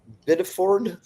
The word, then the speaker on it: Biddeford: From Portland Press Herald, Biddeford, that's how you say it, landlord claims Central Maine Power Company double billed her and tenants for nearly 20 years.